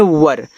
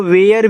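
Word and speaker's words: were: डब्ल्यू ई आर ई को इसको देखो पढ़ते हैं वर। बहुत लोग इसको वेयर भी पढ़ते हैं। तो वेयर नहीं आप वर पढ़ोगे अच्छा रहेगा। ठीक है? आज से वर पढ़ना है इसको।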